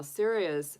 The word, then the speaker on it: Sirius: Now, Sirius, spelled not Sirius, like as in, you know, being serious, but it's spelled Sirius.